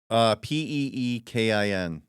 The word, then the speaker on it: Pekin: it spelled like pecan? Peekin.